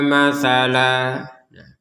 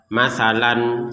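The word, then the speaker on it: مَثَلًا: Kalau kita baca matalan seperti itu. Misalkan kita berhenti di sini di matalan kemudian kita bacanya matsalan. Ayadriba matsalan ya salah ya. ini harus dibaca dengan matala karena ada tanwinnya ini.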